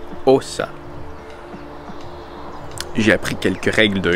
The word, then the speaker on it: Åsa: Parce que, en fait, il y a un petit point sur le A, ce qui fait que le A se prononce comme un O. Donc, je m'en vais à Assa.